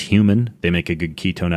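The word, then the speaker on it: HVMN: expensive so the company hvm n pronounced human they make a good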